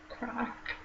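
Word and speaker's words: craic: Crack. Sometimes it's quite a typical Northern Irish thing, like it means good time. Yeah, and it's spelled like C-R-A-I-C, and like crack literally in like Irish or Gaelic means fun.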